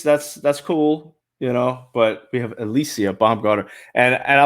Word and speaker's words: Alycia: Okay, Alycia. Yeah, that's how you say it.